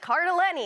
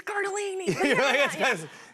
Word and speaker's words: Cardellini: They, of course, pronounced my name wrong, though. But, Yeah, that's which all is fine. That's fine. I'm used to it. But Cardellini, and I was like, it's Cardellini.